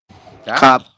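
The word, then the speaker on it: 값: Nah, kalau hanya ada 4 huruf seperti ini, teman-teman baca hanya 3. Ya, maka teman-teman bacanya hanya giok, vokal A, dan yang biep saja. Jadi hanya 3 huruf seperti ini dibacanya. Berarti kita bacanya gimana? Menjadi kap.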